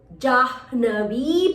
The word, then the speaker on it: Jahnavi: So ha and a na combination. Jahnavi. Ha and a na. Jahnavi Patim. So Jahnavi, I needs to be extended. So please put a line on the top of a I.